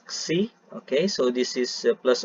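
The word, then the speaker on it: ξ: So u double dot plus 2 kasi omega u dot. Okay, so this Greek letter is pronounced as xi.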